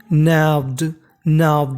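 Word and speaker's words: gnawed: नैव्ड यहाँ पे जी हमारा साइलेंट है, जी का उच्चारण नहीं करना।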